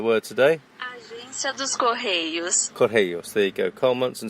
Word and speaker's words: Correios: Correios, there you go.